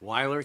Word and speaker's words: Wier: a little better uh my name name is pronounced wer Wier uh I'm the chairman